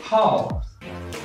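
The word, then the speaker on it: 好: word we learn is how and a power this is a Chinese word as meaning is good fine how it pronounces how how how it will be pronounced same as like how if I put before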